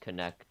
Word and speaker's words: Kinect: I'm pretty sure it's supposed to be pronounced Connect, and it's like kinetic, so K and stuff.